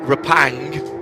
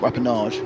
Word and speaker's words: Rapang: Job Rapang coming in. Oh, not Rappenage. No. Rapang. Well, have I managed to add a whole extra syllable to that one?